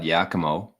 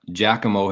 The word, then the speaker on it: Giacomo: Okay, so I thought Yakimo or Yakimo. I said Guacamo. Mugatu says Giacomo, and the Giacomo himself says it's pronounced like Giacomo.